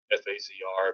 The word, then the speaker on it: FAZR: with our names and it's spelled f azr so we we uh we took the sound pronunciation of phaser and shortened it to that fasr but was the inspiration